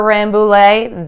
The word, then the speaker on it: Rambouillet: ANSI Kitty calm I want to thank slacker Rambouillet that is how it's pronounced slacker Rambouillet fiber and lamb for the